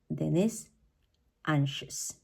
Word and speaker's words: anxious: anxiety but when we talk about the adjective then is anxious okay even though there is an X also on the adjective the pronunciation of both words or the X in